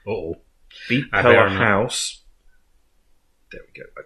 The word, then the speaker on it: Beatpella: Beatpella. Yeah, Beatpella because it's a combination of the words beatbox and a cappella, according to them.